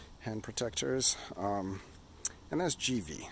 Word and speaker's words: GIVI: protectors um and that's GV I might have pronounced a gii in previous or in my last video but I after a g in Italian turns the G soft like Bono so GV handguards um